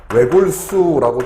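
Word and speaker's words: 외곬: 경우 그다음에 우리가 외골 외골수 하는데 외골 같은 경우에이 골자로 본다면 발음은 외골 하면서 리을 시옷 같은 경우에도이 시옷이 탈락이 되고 어 리을이 발음이 되는 단어가 된다 그래서 어 여기에 나와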